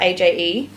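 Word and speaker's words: Aje: Aj, how do you spell it? A-J-E, Aj, which I wore to Papa's funeral.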